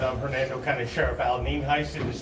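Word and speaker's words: Nienhuis: as Denise said I'm Hernando County Sheriff Al nin Heist and is spelled ni n hu i s and it is pronounced nen Heist as we said uh we have a couple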